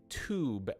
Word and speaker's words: tube: words toon and tube have different pronunciations depending on if a british english speaker says them or an american english speaker so because i am an american english speaker i say tube and tune but if